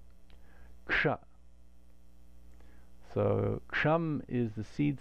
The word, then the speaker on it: kṣa: If you put ka and a cerebral sibilant together, sha together, you get ksha, ksha.